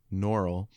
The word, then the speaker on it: Norrell: Sorry to correct your pronunciation, Norrell.